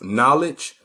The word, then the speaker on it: knowledge: not learn the truth knowledge knowledge they got their k in front of their i wonder why the k is silent huh why the k silent in knowledge and why they also